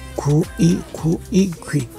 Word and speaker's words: 귀: 귀 is hard to pronounce. 구이, 구이. Make it faster. 귀. 구이, 구이, 귀.